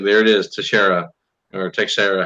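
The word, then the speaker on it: Texeira: like there it is Teixera or take Sara how he say his name to share it take Sara I was like oh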